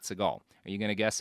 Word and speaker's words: Seagal: out that Steven Seagal's last name which originally pronounced Siegel not Segal are you going to